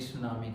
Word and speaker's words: tsunami: है क्लास एथ द सुनामी का द सुनामी जो है वह सु प्लस नामी वर्ड से बना है और यहां पर य सुनामी एक पिक्चर आप दे सकते हैं जिसमें टी साइलेंट होता है और स एक जपनीज